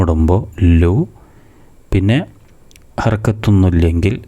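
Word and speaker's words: لام: എന്ന് പറയുന്നത് ഒന്ന് ശ്രദ്ധിക്കുക ശരിയായ ഉച്ചാരണം ലാം എന്നാണ് അവസാനം ഫുൾ സുക്കൂൻ കൊടുത്തിട്ട് എന്ന് പറയുന്നത് ഒന്ന് ശ്രദ്ധിച്ചാൽ മതി ലാം എന്നല്ല ലാം അതാണ് ശരിയായ ഉച്ചാരണം ഇനി താഴെ ഒരു മൂന്ന്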